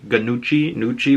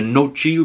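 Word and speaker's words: Gnucci: in Little Italy as the Nucci family, and that's spelled G-N-U-C-C-I, Nucci, whatever you want to call it, the Noci, whatever.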